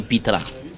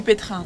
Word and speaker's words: pétrin: va nous sortir du pitran. D'accord. Du pétrin, donc. Excusez-moi, je parle mieux français. Tu n'as pas fait les études que moi. Le pitran. Le pétrin.